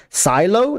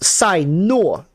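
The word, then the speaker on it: Cyno: to call her nilu Silo no it's Sino like n-u-o Sai no fun fact this is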